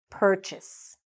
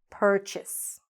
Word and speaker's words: purchase: Purchase. Purchase. Okay? It's much shorter than you think and then it looks.